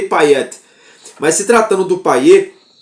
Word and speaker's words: Payet: do Dimitri paer paet na verdade na França é Pet né aqui no Brasil que a gente muda um pouquinho né a pronúncia na verdade é Dimitri payet mas se tratando do